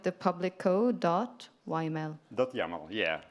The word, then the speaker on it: YAML: public code do yml yaml yeah yaml yeah yam that's the right pronunciation need to know how